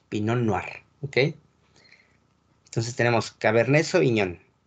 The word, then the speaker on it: pinot noir: se escribe en merlo recuerden que las tres no se pronuncian igual por ejemplo estás pinot noir y pinot meunier no se pronuncia latino es pinot noir y pinot noir ok entonces tenemos cabernet